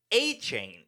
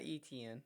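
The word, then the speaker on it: Etienne: So number one is Travis Aane. Yeah. Now that's how you say his name. It's not ETN.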